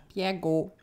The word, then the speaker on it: Bjerregaard: Nach Bjergå. Da müsst du uns gleich mal mehr drüber erzählen. Bjergå ist die dänische Aussprache von Bjerregaard.